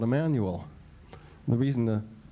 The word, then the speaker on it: Jmmanuel: go into here, but we just pronounce it Emmanuel as if it were spelled with an I or an E.